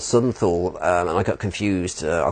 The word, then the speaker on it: Thule: The very bottom one of those is an island called Southern Thule, which is spelled Thule, but I think in German is pronounced Thule. Thule.